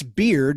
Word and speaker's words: Bearde: Producer Chris Beard, that's spelled Bearde at the end, Chris Beard, like a beard on